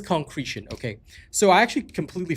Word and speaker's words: concretion: Is it pronounced concretion or concentration? Let me just double check that. It is concretion.